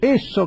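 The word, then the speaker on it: Esso: La de estadía de servicio, eso que vemos por todos lados, es el apócope de la sigla SO, Standard Oil, ESO, así se pronunciaría.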